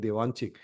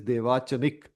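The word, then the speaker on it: Devachanic: chanik life I'm sorry I was mispronouncing I was saying dwanchik it is dvachanik life so what we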